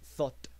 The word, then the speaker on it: thought: Y en el caso del pasado, pues se escribe aquí como algo así como toucht, pero en español en inglés se pronuncia esto thought.